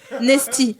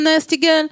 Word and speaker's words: Nasty Girl: Moi, je l'ai prononcé comme le Lipton Nesty. Ouais, voilà. Moi, j'avais dit Nesty, ouais. Mais attends, mais on dit Nesty. Non, non, non, non, non, Nasty Girl.